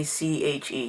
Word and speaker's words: scythe: It's like Syche.